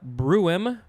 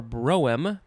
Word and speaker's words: Brougham: So now we have the word, there's a couple ways to say it. Bruin or broem, I think that's what it's saying.